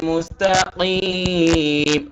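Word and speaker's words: مستقيم: শুনে আরেকটু প্র্যাকটিস করবেন বিশেষ করে হা এবং কফের উচ্চারণটা যেমন আমি একটু যদি বলিনা সিরাতাল মুস্তাকিম মুস্তাকিম এই যে কফটা আমাদের গলার ভেতর থেকে হবে প্রিয় ভাইয়েরা সবাই খেয়াল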